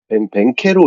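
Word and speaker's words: Banchero: 이게 두 분 다 영어를 잘하시는 걸로 알고 있는데 벤케로 이런 식으로 발음을 하더라고요. 그래가지고 네. 바로 벤케로 이렇게 말을 하니까 그냥 벤케로라고 부르면 될 것 같습니다.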